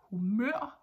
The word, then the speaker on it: humør: And just a little like side note here is that humør in Danish is mood. That is, we stress the latter part, that is the last syllable of the word, humør.